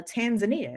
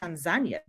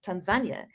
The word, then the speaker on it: Tanzania: I learned that it's actually not pronounced uh Tanzania it's pronounced Tanzania oh and I was able to yeah that's what the locals have that's what the local said Tanzania and the first thing I asked was I